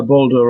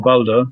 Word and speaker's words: Balder: Is that pronounced right, Balder? Is that correct? Yeah, Balder or Balder.